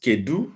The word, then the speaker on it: Kedu: Most times, Kedu is the right word, but K is used for short. Kee maka. In spoken Igbo, most people will say Kee maka. They will not pronounce it Kedu maka.